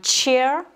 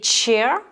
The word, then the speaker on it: chair: Et chair, C-H-A-I-R, la chaise, c'est les lettres CH, mais là, en anglais, on les prononce tche.